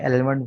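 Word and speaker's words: almond: ठीक है, L silent है लेकिन इसको हम लोग सब एल के साथ ही पढ़ते हैं, एलमंड पढ़ते हैं। इसका माना होता है बादाम। ठीक है, बादाम एमंड कहलाते हैं, वैसे ये एमंड है।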